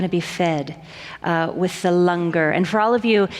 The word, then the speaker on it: langar: be fed with the Lunger and for all of you it's spelled langar but it's pronounced longer so after the service